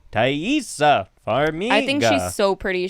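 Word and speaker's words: Taissa Farmiga: i forgot it um i think it's like tight i i watched a video and it was like taissa for me i think she's so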